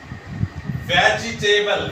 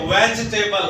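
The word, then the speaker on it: vegetable: वैसी वह चीज है वेजिटेबल वेजिटेबल नहीं होता बल्कि वेजिटेबल होता है वेज इस तरह वेस्ट टेबल तो सही कलरफुल जिसका क्या है वेजटेबल नहीं वेजिटेबल नहीं दिखेंगे तो सही इसी तरह लेकिन इसकी जो सही प्रनंसीएशन है सही तरफ हो जाए वो बनेगा वेज टेबल वीड्स टेबल ठीक है अल्फाज इस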